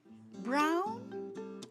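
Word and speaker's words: braun: Brown in German. It's brown. Spelled B R A U N. So easy to remember. Just like in English, the same pronunciation.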